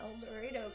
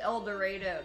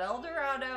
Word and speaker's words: El Dorado: am indeed the eldorado kansas part and it's pronounced el dorado kansas it's not el dorado all the other ones are el dorados but the one in kansas is called el dorado ray bulger ray bulger